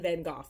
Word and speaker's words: Van Gogh: going through it again probably should have said van gogh i'm sorry that's how he would have pronounced his name next we have i'm